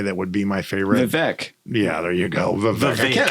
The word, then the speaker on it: Vivek: Vivek. Yeah, there you go. Vivek. I can. Vivek as in cake. Vivek is in cake. Okay. But I say I'd like a piece of cack. Yeah. His name's Vivek.